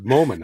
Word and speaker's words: Moman: Not many people get my name pronounced right first time, and you were right on there, Moman. I'm like, it's an easy damn. name, Moment. No, I get Mormon, Mormon.